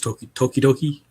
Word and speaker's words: Tokidoki: It's Tokidoki. Tokidoki. It sounds Japanese, but it's Italian. It's like okidoki with the D or with the T.